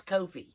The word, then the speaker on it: Ko-fi: I personally think it's Ko-fi. Kind of supposed to be kind of like coffee, or maybe it is coffee.